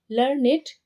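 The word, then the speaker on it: learned: यह जो लर्नेट है यह लर्न यह ऐसे प्रोनंसिएशन नहीं होगा लर्न इट बोलना है क्योंकि राइमिंग करना है देखिए नीचे we pronounced इट एस लर्न इट to rhyme with किसके साथ राइमिंग करने किसके साथ देखिए क्रिएटेडटेड ठीक है इट टिक द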